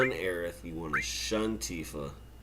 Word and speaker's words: Aerith: And this is where we meet AERITH for the first time. It's a very controversial thing. It's actually spelled AERIS in this game, and the pronunciation is AERITH.